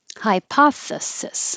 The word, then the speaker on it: hypothesis: Hypothesis, voiceless TH, hypothesis.